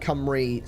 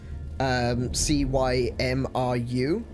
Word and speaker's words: Cymru: And so the country is called Cymru, spelt C-Y-M-R-U, Cymru, because our vowels are different to English.